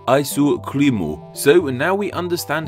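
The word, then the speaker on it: アイスクリーム: their native equivalents EG ice cream in Japanese is spelled with Katakana and is pronounced ISO cremo so now we understand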